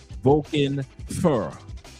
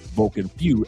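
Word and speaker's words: Vulcan Feu: I know a lot of people pronounce it Vulcan Few, F-E-U, but it's actually pronounced in French, not in Spanish. Vulcan Few is Spanish, which means was. But Vulcan Fur is French.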